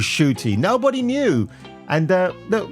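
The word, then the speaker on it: Ncuti: how to pronounce it we kept calling him enti gatwa I said to him I'm sorry shoy we called her enti gatwa and fact it was shoy nobody knew and uh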